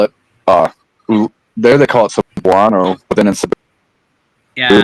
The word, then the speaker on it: Cebuano: They call it Visayan or I thought it was Sebahana, but it's Cebuano.